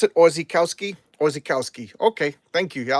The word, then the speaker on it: Orzechowski: Oh, that's how you pronounce it? Orzechowski?